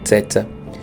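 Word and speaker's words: Ceca: etc e ata teta que escreve cessa mas se pronuncia teta ela vai se casar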